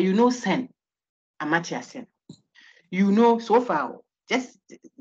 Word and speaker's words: Amartya: But if you search for how it is pronounced, it's not that. The T is silent, I think. But you know Sen, Amartya Sen.